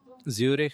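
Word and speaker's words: Zürich: Yeah, but I've been to Switzerland, to Zurich and Davos. Oh, What's the right pronunciation of Zurich?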